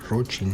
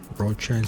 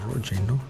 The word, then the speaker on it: Rothschild: about in this way Rotschild, the Rothschild pronunciation is not correct because it's not English, it's a German word he became the secret